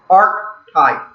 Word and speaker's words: archetype: The next word is archetype. And here the CH is pronounced like a K, archetype.